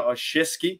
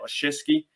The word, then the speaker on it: Olszewski: So Ray Ray's gone and we have Gunna Olszewski. That's how you say it. Olszewski, coming to the Steelers.